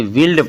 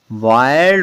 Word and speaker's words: wild: WILD, वाइल्ड, क्योंकि आई के बाद LD, इसको बहुत से बच्चे विल्ड पढ़ते हैं, विल्ड, विल्ड नहीं होता, वाइल्ड होता है।